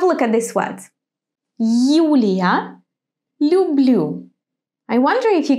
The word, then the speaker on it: Юлия: In the word Юлия, it's like English you. In the word люблю, it's softer, it's a bit different. We actually soften the consonant before you, and instead of you, we pronounce U. Лю, л, люблю. If you missed my lesson about soft consonants, go to see it now. You. So in the beginning of the word, you is pronounced as in the English word you.